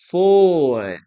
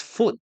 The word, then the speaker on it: food: Now, be careful with the pronunciation, as I mentioned, guys, because some people uh pronounce this as foot. Foot. No, we never say foot.